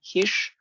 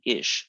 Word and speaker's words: ix: well it turns out that particular sound begins to drop so instead of saying hish people start saying ish and the word is